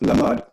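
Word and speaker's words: לָמַד: And Lamed Mem Dalet, also pronounced Lamad, means to teach, to instruct, to impart knowledge. And the same spelling, Lamed Mem Dalet, but pronounced Limud, means a disciple, one who is taught, a follower.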